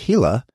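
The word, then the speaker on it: Gila: the proper pronunciation of hila that name spelled g i l a but pronounced hila and a little more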